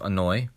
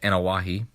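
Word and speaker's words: Anoaʻi: have a wrestler his name is laity joseph annoy and actually his last name is pronounced anawahi but i guess you can pronounce it either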